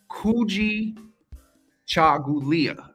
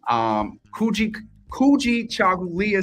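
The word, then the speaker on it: Kujichagulia: and today's theme is Kuji Chagulia, self-determination. I always get tongue twisted with that one, and I believe you moja yesterday, but always overpronounce the A. But Kuji Chagulia, self-determination is our theme for today for Kwanzaa.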